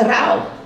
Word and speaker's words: Dao: Outro conceito importante é Rao, ou Dao. Rao, eles pronunciam Rao, mas se escreve Dao. Os linguistas escrevem Dao.